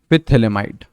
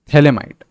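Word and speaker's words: phthalimide: पिथेलेमाइड, इसका नाम है थैलेमाइड, ठीक है। बेसिकली स्टार्टिंग के आपके साइलेंट रहते हैं, इसका नाम है थैलेमाइड, ठीक है। PH है, PH से स्टार्ट हो रही है, THALIMIDE, ठीक है, थैलेमाइड।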